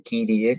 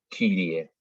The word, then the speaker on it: Kyrie: En este caso, podemos optar por pronunciarla de dos maneras, o como una I directamente, Kyrie, que es la mayoría lo pronuncia así, porque sería una latinización de la vocal griega, pero también la podemos pronunciar como era en griego, que, bueno, para acercárselos a las lenguas modernas, es como una U francesa, es decir, Kyrie. Cualquiera de las dos está bien.